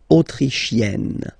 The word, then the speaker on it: autrichienne: L'Autriche, autrichien, autrichienne. So same thing here. You get and then double N, you open the autrichienne.